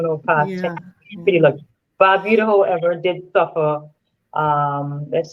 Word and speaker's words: Barbuda: I always pronounce it Yes, wrong. I'm sorry. Antigua and Barbuda. Barbuda, not Barbuda.